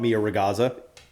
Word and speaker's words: Mia Ragazza: I just got introduced to a wonderful restaurant in Manioc known as Mia Ragazza. Is that how you say it? That is how you would pronounce that restaurant, Mia Ragazza.